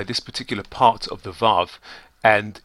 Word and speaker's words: Waw: W-A-W, which we would actually pronounce Vav, as though it were written V-A-V.